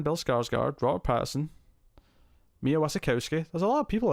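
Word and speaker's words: Wasikowska: Tom Holland, Jason Clarke, Sebastian Stan, Bill Skarsgård, Robert Pattinson, Mia Wasikowski. There's a lot of people in this. Or Wasikowski, I think is how you say her name properly, actually.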